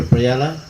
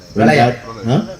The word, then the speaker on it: Pralaya: It said that when God, after Prayala, Pralaya. Pralaya. Yeah, Pralaya. Did I say it right? Yes.